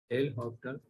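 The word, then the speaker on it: L'Hôpital: क्या है वो देखिए, एल हॉपिटल सर इसमें एस साइलेंट होता, जी हाँ हॉस्पिटल में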